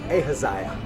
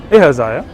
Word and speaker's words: Ahaziah: Ahaziah. Okay. Ahaziah. Not Isaiah. Isaiah is a prophet. Ahaziah was a king.